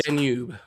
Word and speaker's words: Danube: Blue Danube. Danube. Okay. God, I'm terrible at pronouncing.